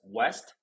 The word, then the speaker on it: W3ST: So first of all, it's pronounced as "wEst."